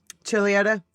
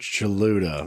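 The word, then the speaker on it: Chuluota: Uh but Chad adopted him and they lived in Chiliota, Florida. Is that how you say that? Chiliotaa. Yes, it is. I had to I have looked up the pronunciation of it because it it is spelled like chaluda like like Cholula.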